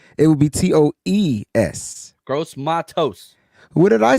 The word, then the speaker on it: Matos: And then it's TOSE. That's pronounced toast. Toes. So it's not toes. It's toast. Right? Because if it was toes, it would be TOES. Gross Matos.